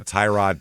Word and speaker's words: Tyrod: Obviously, so Tyrod Taylor. It was in the sixth round that year. Yeah. So some interesting guys. I just recently found out his pronunciation is Tyrod.